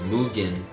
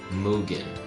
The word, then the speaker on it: Mugen: Kel said also it's pronounced Mugen, not Mugen. Wait, hold up. He said it's pronounced Mugen, not Mugen. Isn't it Mugen? I thought it was Mew, like the Pokemon Mew Gen kind of thing.